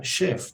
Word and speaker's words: chef: español es chef pero siendo una palabra francesa se pronuncia chef porque también comienza con ch chef por lo tanto